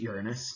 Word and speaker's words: Uranus: Then we get to Uranus, and a lot of astronomers will pronounce it Uranus so that we can avoid all the Uranus jokes, but if we were